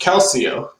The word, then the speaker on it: calcio: I think it's pronounced calcio. Calcio, huh? Yeah, it's like calcium.